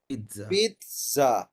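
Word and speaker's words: pizza: আমরা যখনই জেড দেখবো জেড এর একটা উচ্চারণ হলো টি প্লাস এস ঠিক আছে আমরা এটা আগেও বলেছি তার মানে এটা উচ্চারণ কি এটা উচ্চারণ কি হবে প্রিয়াঙ্কা পিজা পিজজা পিজজা এটা উচ্চারণ পিজ্জা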